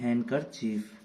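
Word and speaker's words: handkerchief: ऐसे होता है कि हमारा रुमाल, उसको हम इंग्लिश में कहते हैं हैंडकरचीफ, इसको भी हैंडकरचीफ बोल देते हैं, इसमें भी डी हमारा साइलेंट होता है।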